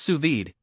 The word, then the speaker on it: sous vide: Pronounced sous vide, it's a cooking method that involves sealing food